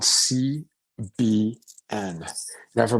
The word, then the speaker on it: CBN: that is added in and this one's called CBN now if I pronounce it it sounds just like if I